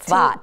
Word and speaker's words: Safed: And there's one said, and Randy is now living in Israel in Sfat, the place that we spell S-A-F-E-D, Safed. It's pronounced Sfat.